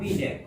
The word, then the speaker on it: Binet: Alfred बीने, BINET, लेकिन उच्चारण होगा बीने।